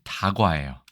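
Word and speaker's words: 茶菓: 자, 이것도 차과라고 안 하죠. 차와 과자를 이르는 말인데 발음은 다과예요. 그렇죠?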